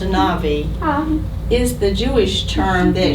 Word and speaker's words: anavi: Anavi, A-N-A-V, pronounced Anavi, is the Jewish term